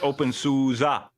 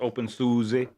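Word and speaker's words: openSUSE: aid kits that's awesome I know right it's open Suza not open Susie there's a video about how to how to pronounce Sousa yeah and you were the one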